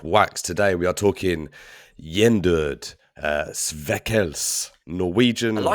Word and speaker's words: Gjendød: Today we are talking Yender uh veels Norwegian. I like how you pronounce that.